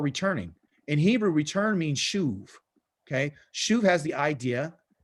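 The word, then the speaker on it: שוב: Okay, shuv has the idea, and kind of right up here is SHU, and it's usually a B, but I'm gonna put a V right here so we can pronunciate it.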